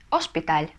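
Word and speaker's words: hospital: Кантон потому что слово заканчивается на энное значит ударение на предпоследний слог Ну и последнее слово больница ошпиталь ошпиталь или это согласная это не на это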